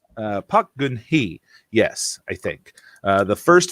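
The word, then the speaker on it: 박근혜: Oh my goodness, I looked up how to pronounce this yesterday, and I've plumb forgot. I think it's Park Geun-hye. Park Geun-hye.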